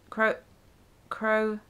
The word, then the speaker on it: Croatoan: Croatoan. Croatoan? Sounds like grow a toe on.